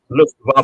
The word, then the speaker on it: Luftwaffe: that was the Luftwaffe. The Yes, Luftwaffe, that's it. not Lufthansa. Yes, Luftwaffe.